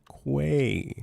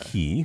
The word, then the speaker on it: quay: Pronounced qu. Uh, say it with me now. With a Q. With a Q. Quay. Yeah. Yeah. Yeah. One more time. Quay. Not key.